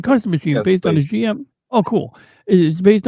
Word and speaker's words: GM: It is a high-spec machine developed last among the variations of the GM or Jim as they pronounce it in the dub during the one-year war